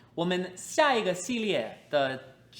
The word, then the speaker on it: 四: So when you say "four", make sure your tones are correct. "si4".